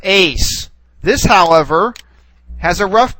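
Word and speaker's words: εἰς: here we have what looks like an apostrophe Ace all right whereas the second one here we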